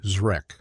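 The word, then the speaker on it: Zrek: was revealed to be Zre, pronounced exactly like it's spelled with a hard Z sound followed by Wreck.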